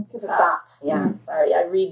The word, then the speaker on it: Cassatt: Cassatt.